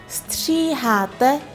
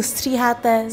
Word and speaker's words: stříháte: stříháte muže i ženy. Cái từ stříháte rất khó để phát âm nên chúng ta sẽ dừng một chút ở đây.